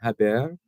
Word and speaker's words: Javier: was listening this morning I think that Jay is silent Javier first Grand Slam Crown